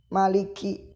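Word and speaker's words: مالك: Kakak Maliki Maliki Maliki jadi harus dikeluarkan nafas dari mulut jangan Hai tidak keluar udara contohnya Maliki Malikiyaumiddin Malikiyaumiddin Malikiyaumiddin Nah itu salah dan membacanya juga kak kak kak kak kak ketika kita tangan di kedepan mulut kan maka akan terasa ada keluar ada udara yang mengenai tangan kita kakiku kakiku pernah itu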